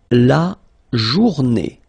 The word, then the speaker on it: journée: Then, la journée. La journée. Final not pronounced.